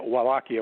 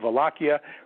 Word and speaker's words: Wallachia: prince of volakia or we would say a wallachia with a w but it's pronounced velocia which is huge plains to the south of